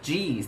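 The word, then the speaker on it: jeez: เ อ่าน ว่า Jesus หรือ สั้น ๆ ว่า jees นะ คะ ก็ สามารถ เขียน ได้ เป็น g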